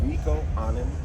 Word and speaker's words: Nicco Annan: My name is Nico An. That's N I C O. A N A N.